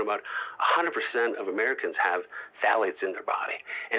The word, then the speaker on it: phthalates: should know is called phthalates. Phthalates. It's spelled with a P-H. It is the worst way to spell it. It's like an alphabetical mess.